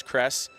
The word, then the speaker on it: Crest: And I apologize, I was saying Crest's name wrong. I kept saying Nest. I apologize that it is Crest.